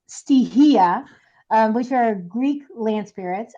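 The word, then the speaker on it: στοιχεία: It's pronounced stihia, which are Greek land spirits.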